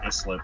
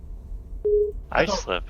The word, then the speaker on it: Islip: There's a town on Long Island called Islip that everyone calls Islip. How do you say that town with the P name again? Oh, Poughkeepsie? Yeah, that's it. Islip.